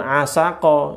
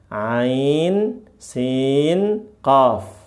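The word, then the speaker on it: عسق: Ini berikutnya bukan asaqo ya. Jangan jangan asaqo tapi apa? Ain sin qof dengan beberapa kriteria yang akan kita jelaskan.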